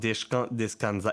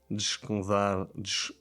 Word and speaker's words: descansar: It's not descansar. It's not Italian. It's not descansar. It's not descansar. It's descansar. Descansar. Again, no E.